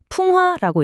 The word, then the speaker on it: 풍하: 풍화라고 읽습니다. 한자를 한번 뜯어 볼까요? 첫 번째 글자 바로 바람 풍자입니다. 음은 풍이고 뜻은 바람이죠. 그리고 두 번째 글자는 네, 연꽃 하자. 음은 하 뜻은 연꽃입니다.